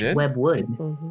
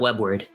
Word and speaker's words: Webwood: I thought it was web word. It's web wood, correct?